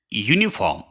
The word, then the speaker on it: uniform: U, Y is also a consonant, though this word begins with a vowel U, but its pronunciation is uniform, means its pronunciation begins with a consonant, so that we have taken the.